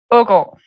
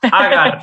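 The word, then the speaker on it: Aagaard: How do you pronounce it once again? Ogor. Oh, we would say agar in Spain.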